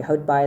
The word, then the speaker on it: Houtbaai: Sometimes they would go to Houtbaai or Houtbaai. Sorry, Houtbaai is how you say it in Afrikaans.